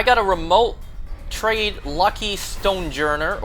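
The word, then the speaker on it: Stonjourner: I got a remote trade lucky stonejourer or as the Pokemon company has officially uh you know made its pronunciation known stonejar.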